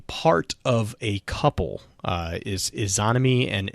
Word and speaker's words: Izanami: To jump to Izanami, actually Deej and Bife actually talked about this, I believe, earlier this week. They kind of mentioned this. Izanami is a part of a couple. Is Izanami and Izanagi, I think is how you pronounce that.